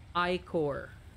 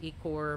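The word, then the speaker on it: ichor: standard english or british this is actually pronounced as i core it's only pronounced one way i'm so sorry for those who pronounce this as e core but we have to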